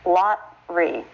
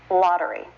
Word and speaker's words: lottery: about the word lottery there's an unstressed vowel the schwa followed by the R but we wouldn't drop that syllable turning it into a two syllable word lot three this is still a three syllable word lottery lottery so this is something you